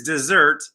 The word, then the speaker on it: dessert: decided to desert his dessert in the desert all right so this is confusing because the first two are actually homophones they're you pronounce it the same way although you spell it differently the soldier decided to